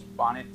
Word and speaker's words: Bonnet: to be talking about Charles Bunny syndrome sometimes called Charles bonnet syndrome which is probably what I'm going to be calling it because it's easier for an American to pronounce it that way so right now I